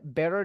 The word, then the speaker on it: better: bilang ini never seen better Days Nah untuk cara bacanya teman-teman ketika ada huruf t di anara dua bunyi vokal nanti teman-teman lafalkan pakai D ya nah ini bakal kedengaran